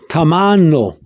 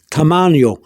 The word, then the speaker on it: tamaño: And you know now that the N, with the wavy line, is an N. So you don't pronounce it Tamaño. No, it'd be wrong. It's Tamaño. It's an N.